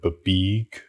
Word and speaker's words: BBEG: You didn't pronounce the word babeeg correctly? Yeah.